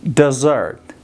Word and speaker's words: desert: لغت بعدی desert. Desert. Desert. Desert. دوستا با یاد داشته باشین لغت desert تلفظ نکنین اشتباه.